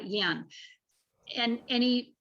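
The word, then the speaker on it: Jan: from denmark uh yen it's j-a-n but it's pronounced uh yen and and he said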